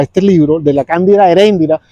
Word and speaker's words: Eréndira: libro de la cándida Eréndira Yo pronunciaba erendira después me di con el correr del tiempo me di cuenta que la pronunciación era otra pero fíjense ustedes como